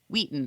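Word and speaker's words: Weighton: I also wanted to give a shout out to my little childhood hometown market of Market Wheaton, pronounced Wheaton.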